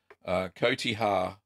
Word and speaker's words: cotija: it called Katya no cotija cotija cotija I think is how you pronounce it great cheese too